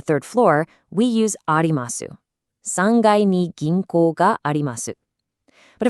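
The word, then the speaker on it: 三階: Instead of saying sankai, it's actually pronounced sangai.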